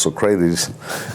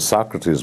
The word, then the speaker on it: Socrates: at one point I when he pronounced Socrates name he pronounced Socrates and I I correct and I said Socrates Michael he looked up he